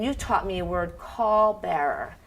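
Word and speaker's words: caul: taught me a word call Bearer right how do you spell that it's C's and Charlie you Union a apple L Larry it's sound it's pronounced like call but it's call Bower call Bearer what is that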